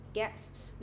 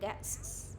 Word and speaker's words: guests: Nếu mà mình đọc là guest, đúng không? Còn ở đây là nhiều khách thì mình sẽ đọc là guests, đúng không? Hai cái s mình sẽ nối với mình sẽ phát âm gần nhau, đúng không?